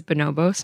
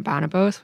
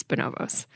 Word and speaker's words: Bonobos: And I did actually look up how to pronounce that name, and it is Bonobos, not Bonobos, which I originally thought. It's Bonobos.